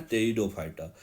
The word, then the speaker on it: टेरिडोफाइटा: टेरिडो P silent है यहां टेरिडोफाइटा।